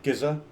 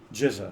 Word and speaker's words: GZA: How do you say GZA? Giza? GZA. Jizza. Yes, I know. It sounds like GZA.